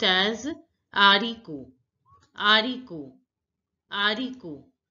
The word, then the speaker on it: haricot: Bean is pronounced as haricot. Haricot. Haricot. The H is silent, so it is not pronounced. So we pronounce it as haricot.